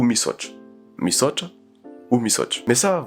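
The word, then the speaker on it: misaotra: Imaginons le motra, les gens vont prononcer ce mot missautra mais au fond ça se prononce pas comme ça. Ce mot qui veut dire merci se prononcera misch ou mische.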